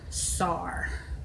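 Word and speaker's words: Tsar: Star. It's T-S-A-R. Sar.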